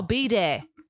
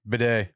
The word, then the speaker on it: bidet: are you're in canadia so how do you say a bidet then no b day bidet you say a bidet i say b day it's kind of like